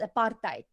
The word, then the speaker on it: apartheid: Those are two English words, but apartheid is an Afrikaans word, and it's apartheid. How is the sound? That's how it's pronounced, apartheid.